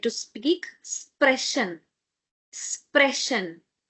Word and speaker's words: sprechen: Speaking is a verb like to speak, sprechen. Sprechen. So, again, here before ch we have E. Now, the pronunciation would be sprechen.